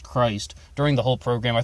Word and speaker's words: Christ: Chris Kuehl and the death of Lisa Buchanan and the first thing to note is his name is spelled CH RI st but it's not pronounced Christ during the whole program